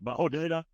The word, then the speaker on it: Hodeidah: second major port in Yemen, and I've always mispronounced it, but it's like Hodeidah. The other one is Aden itself. It's Hodeidah.